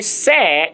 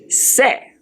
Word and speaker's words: c'est: C'est is spelled S apostrophe E-S-T. C'est is a pronunciation, and it means it's I-T apostrophe S.